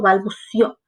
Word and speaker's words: balbuceó: Bien, y si notan, tiene un acento en la O. eso quiere decir que está escrita en el pasado, ya pasó, balbuceó.